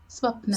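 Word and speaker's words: स्वप्न: Uh, how do you pronounce swapna? Swapna.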